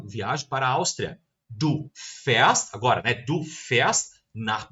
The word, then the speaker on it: fährst: Percebam que a nossa pronúncia também mudou. Ich fahre, du fährst. Du fährst.